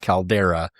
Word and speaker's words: Caldara: to YouTube, search John Caldara. I think it's pronounced Caldera, but I'm pretty sure it's spelled with all A's.